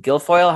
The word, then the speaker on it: Guilfoyle: away with everything so far, is paying Kimberly Guilfoyle.